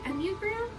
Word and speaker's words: Enneagram: One of the greatest things, and this could be the homework for today, um is like looking up the Enneagram. And it's spelled like this, E N N E A G R A M.